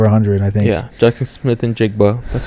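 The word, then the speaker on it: Smith-Njigba: jiga had over 100 I think yeah Jackson Smith and jiga that's how you say it 12 receptions 117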